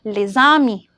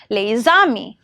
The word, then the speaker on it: les amis: For example, les amis is pronounced as les amis, where the sound links with the final s of the lay and with the vowel sound of the beginning of the word ami, that is a, les amis.